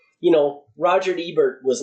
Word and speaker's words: Roger Ebert: you know fan base it's not you know Roger Ebert was not goth so he's not going to